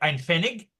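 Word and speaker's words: Pfennig: pretty much the same thing you did except an fenig okay which is PF n i g I believe is how it's spelled is at the because say use zeros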